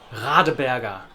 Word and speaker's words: Radeberger: a big brewing group, Radeberger. Radeberger. The standard German R sound is a very unusual but a wonderful sound that does indeed come